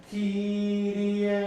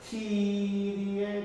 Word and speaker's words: Kyrie: Kyrie, right? And 1. Yeah, remember it's Kyrie, not Kyrie, right? Don't go to the last note, make the first note a little more.